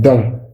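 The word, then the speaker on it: dont: pronouns key then C then D this n is silent and then O So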